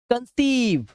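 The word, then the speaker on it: conceive: शुरुआत में बच्चों कि किसी भी वर्ड के लास्ट में अगर ई होगा आप उस ई को नहीं पढ़ेंगे। उसे इग्नोर करेंगे। ठीक है? तो डू not focus on this particular letter E which is इन the last of this word. ठीक है? तो इस पढ़ेंगे सिर्फ रिसीव कंसीव डिसीव। तो लॉन्ग ई का साउंड है। लॉन्ग व साउंड।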